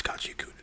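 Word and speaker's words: Gachiakuta: I heard some people say Gotcha Kuta. It's Gotcha Kuta, dude. That's how I pronounce it. That's how I'm going to pronounce it here at the ASMR library.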